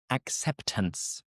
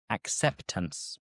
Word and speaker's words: acceptance: So we don't boldly pronounce the T. It's again just a faint T.